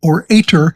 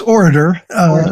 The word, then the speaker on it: OR8TOR: So I just, for the record, before we went on live, I mispronounced it orator, but it's orator, with the 8 in the middle, which I think is great.